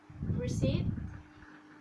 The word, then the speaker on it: receipt: and then letter p letter p can also be silent in words receipt psycho and psychology for combination ph is